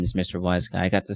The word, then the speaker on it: WhyzGuy: So yes, Mr. WhyzGuy. That's how it's pronounced.